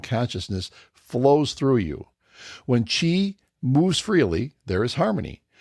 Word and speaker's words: qi: Through them flows qi. Sometimes you see it spelled like a Q and an I.